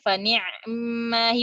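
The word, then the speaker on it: فنعما هي: Ain disukunkan, mim ketemu sukunnya. Jadi baca fani'mahi. Mungkin karena dua kata tadi. Menunjukkan di situ ada dua kata. Jadi dibacanya pun aneh gitu. Agak sulit. Fani'mahi gitu. Atau cara yang kedua kalau dari Syu'bah itu dibacanya fani, ainnya diikhtilaskan.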